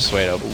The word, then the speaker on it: pseudo: It's actually Suedo.